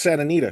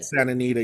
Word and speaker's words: Santa Anita: Uh, I don't even know how to oh, it's pronounce Santa it. Anita? Yeah, it's Santa Anita.